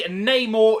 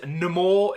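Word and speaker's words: Namor: that'll be sick basically Neymar is here or in the movie he pronounces himself as nemour it's just when I say no more it sounds ridiculous I'm just gonna say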